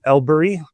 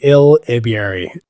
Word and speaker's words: Elibiary: So my good friend here, Elibiary. did I pronounce that right? Close. There's a B in there. So Elibiary.